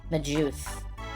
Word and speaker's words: Magus: A lot of people pronounce the name Magus with a hard G, despite the word Magus being a soft G. Magus.